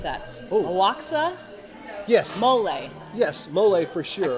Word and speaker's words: mole: meat and then covered with, how do you pronounce that? Oaxaca? Yes. Mole.